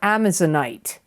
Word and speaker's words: amazonite: it in the past it's like the word Amazon with it at the end a m a z o n i t e amazonite it's a stone